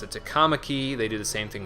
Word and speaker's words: Takamaki: Like, Anne's last name, if I was to pronounce it, I would pronounce it Takamaki, but in this game they pronounce it Takamaki.